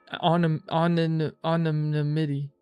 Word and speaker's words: anonymity: Anonymity. I know the word, but I don't know how to say it. Okay, I know the word. Of this attire shall be your protection. Anonymity. Like anonymous, but anonymity.